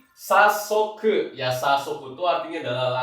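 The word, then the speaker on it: 早速: Dua-duanya adalah bacanya hayai, tapi dibaca menjadi sasoku.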